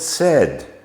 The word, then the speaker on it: said: The word said, past tense of the verb to say, spelt with an A and an I. Well, phonics tell us that we should be making the A sound there, and it should come out as said, but it doesn't.